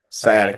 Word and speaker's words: sciatica: pronounce it correctly. Sciatica. Sciatica. Um, Sciatica.